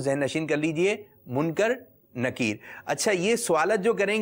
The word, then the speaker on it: منکر نکیر: جو قبر میں فرشتے سوالات کرتے ہیں ان کے نام ہیں منکر نکیر۔ کچھ لوگ اس کو یہ کہتے ہیں منکر نکیر، تو اس کا صحیح تلفظ آپ ذہن نشین کر لیجئے، کیونکہ ابھی